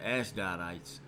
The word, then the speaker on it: Ashdodites: I say, yeah, that's how you say it, Ashdodites, heard that the walls of Jerusalem were made